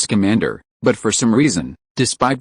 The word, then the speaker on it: Scamander: "His name isn't Skatty, it's Scamander."